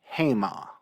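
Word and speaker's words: המה: um and it uh can be pronounced two different ways or spelled two different ways one is haim the other is hema in both cases you've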